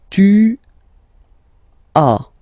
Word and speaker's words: as: Second one, tu as, okay? As usual in French, final S is not pronounced.